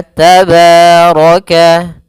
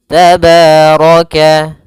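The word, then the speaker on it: تبارك: Maka tabaraka tabaraka. Kemudian rnya dibaca tebal karena dia ro berharakat fathah.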